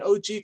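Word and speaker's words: ogee: watt would always say you call it an OG clock because it falls off the wall and you go oh gee and I always love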